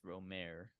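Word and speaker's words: Rohmer: and it is Eric romer's tales of the Four Seasons box set so it is all four ask your French relatives how to pronounce his name but I'm pretty sure it's ROM yeah okay that makes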